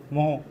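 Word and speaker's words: mho: इसको क्या बोलते हैं आधा मा और हो मोह ठीक है साइमन भी होता है गुड तो इसका मात्रक या तो ओम इनवर्स होता है या मोह या एक अलग मात्रक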